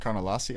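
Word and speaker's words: Ariane Carnelossi: How do you say her name? Carnelasi, I believe.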